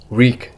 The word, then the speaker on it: wreak: Reek is the pronunciation, I'm pretty sure, of this word.